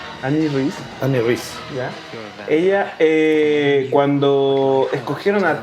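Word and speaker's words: Anne Rice: Autora, ¿cómo se pronuncia? Annie Rice.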